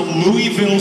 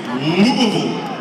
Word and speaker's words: Louisville: I always thought, on a fucking baseball bat, I thought it was a Louisville slugger. It's not. You go to Kentucky, and you play that city, and you say it like that, they will fucking boo you. It's Louisville. You gotta say it right, or they will fucking jump on you quick.